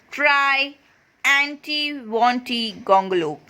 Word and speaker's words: Triantiwontigongolope: But the poet is also saying that you'll learn it soon, and he hopes so, by trying to pronounce the name again and again, saying try anti wanty gongolope.